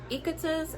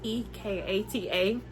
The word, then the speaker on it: Ekata: It says, when Ekata's, and I know I said her name wrong, it's Ekata, brother is named heir to